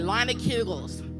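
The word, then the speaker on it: Leinenkugel's: Yeah, you gotta say it like that, Leinekugels.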